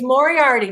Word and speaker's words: Moriarty: Isn't it pronounced Moriarty? It's Moriarty.